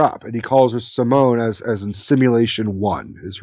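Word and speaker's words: S1m0ne: movie he did where it's phonetically spelled out like s 1 M 0 and E is its but it's really Simone yeah I see that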